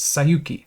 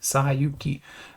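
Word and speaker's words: 西遊記: In Japanese, the same set of characters is Sayuki, Sayuki. That's how you pronounce that.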